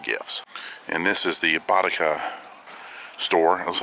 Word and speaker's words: Bottega: It's actually pronounced Bottega. It's Italian, so, and I'm half Italian.